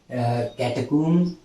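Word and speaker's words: catacombs: इसमें भी कैटकूम्स, यहाँ भी साइलेंट है।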